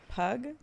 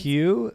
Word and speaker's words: Pugh: Florence Pug. Oh, Florence Pugh.